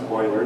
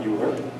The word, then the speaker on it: Euler: By the way, it's pronounced Euler, not Euler. That's what I get for being a German speaker.